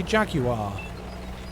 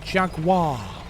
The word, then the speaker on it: Jaguar: My American friends always were amused at how I say Jaguar, cuz I believe they would pronounce it Jaguar. Jaguar.